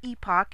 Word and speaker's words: Epoch: but I came across this article by the Epoch Times, or Epoch if that's the way you want to pronounce it, and I really wanted to share